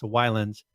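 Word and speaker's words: Ylands: go check it out it's spelled y la NDS Islands but they in their videos I've heard of pronouncing islands there you go so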